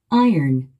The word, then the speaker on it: iron: 우리 한국인은 이 단어를 아이롱이라고 합니다. 그런데 원어민들은요? Iron, Iron. 스트레스가 맨 앞에 있군요.